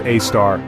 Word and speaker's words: Sagittarius A*: Right in the middle of this stellar metropolis lies Sagittarius A asterisk, pronounced A-star.